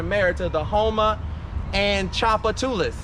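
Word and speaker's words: Tchoupitoulas: to the hom and Chapa tulis that's how you pronounce that street Chapa tulis over there by the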